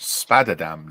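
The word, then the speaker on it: Spadeadam: venue on occasion nice it's pronounced spadadam now is so much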